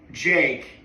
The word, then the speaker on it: JVKE: Oh, Jake, but they made the A into a V.